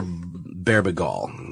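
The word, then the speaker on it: Bebergal: It's a book called Season of the Witch, How the Occult Saved Rock and Roll by a guy named Peter Berbegal. Pronounce it like that.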